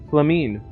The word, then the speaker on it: Flamine: That's her name. That's how you say her name. Flamine.